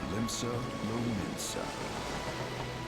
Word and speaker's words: Limsa Lominsa: the Lotunnel Sea, lies the maritime city-state of Limsa Lominsa. Well, at least I know I've been pronouncing it right.